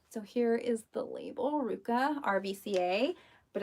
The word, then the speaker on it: RVCA: came in here these are adorable they're from Ruka so here is the label Ruka RVCA but it's pronounced Iruka it's a California brand appreciate that